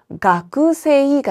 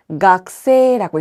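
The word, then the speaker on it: 学生: 그런데 얘도 가그세이가 아니라 각세라고 했습니다. 중간에 들어간 크가 초금으로 발음되는 경우도 있다라는 점을 기억해 주세요.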